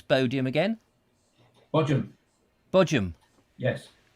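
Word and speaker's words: Bodiam: window is it oh so how do you pronounce bodium again bojam yes bojam yes brilliant sussex dialect i've been trying um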